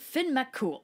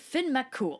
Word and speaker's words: Fionn Mac Cumhaill: the m what purp you don't pronounce the m why have it there